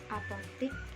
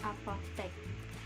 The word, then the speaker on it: apotek: yang benar yaitu cabai, apotik yang benar yaitu apotek, atlet yang benar yaitu atlet, cedera yang benar yaitu cedera.